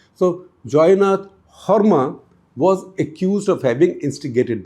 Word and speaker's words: Joynath Sarma: Joynath Sarma, or Horma as it would be pronounced in Assam. So Joynath Horma was accused of having instigated them.